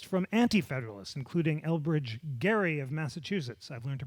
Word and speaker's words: Gerry: face of protests from anti federalists including Elbridge Gerry of Massachusetts I've learned to pronounce it identically gerrymandering not gerrymandering and Edmund